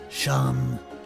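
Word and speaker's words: Seam: Name is Sham, pronounced Sham.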